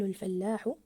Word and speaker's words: الفلاح: لا يستعمل الفلاح الفلاح اجل ضاعفنا حرف اللام في كلمه الفلاح احسنتم الجرار الجرار احسنتم